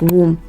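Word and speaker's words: womb: is silent for instance you have a word like wom w o m b the B is silent you have a word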